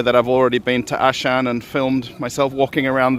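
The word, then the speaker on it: Auchan: And then you can just see behind Awa, actually it's pronounced Ashan, and that's one of the biggest supermarkets, I think, in Moscow as well.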